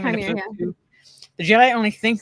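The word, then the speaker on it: Qimir: As Chimere, is that how you pronounce his name? Chimere, yeah.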